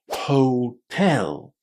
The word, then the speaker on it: hotel: And then we need to put the stress on the second syllable, not the first second syllable. Listen. Hotel.